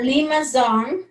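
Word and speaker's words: limaçon: that we can we we spell it as c but i think we pronounce z s s so we call limazon amazon uh limazon inner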